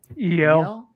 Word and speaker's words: Michel: Like, but not like spelt like MICHEL. Yeah, like that. there's those. Yeah, I think that's usually what I think usually in French, though it's pronounced Michel.